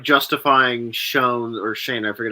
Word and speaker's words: Schoen: gonna be tough like just the like justifying Shan or Shane I forget how you pronounce his name the GM being retain Shane thank you it'll if the Eagles win the